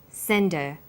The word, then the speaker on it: send her: one what did you send her send is the strong form and her is weak because her is not stressed we drop the initial H sound so it's pronounced sender what did you send her